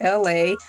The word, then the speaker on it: Elay: So, my name is LA, pronounced like LA, like the city.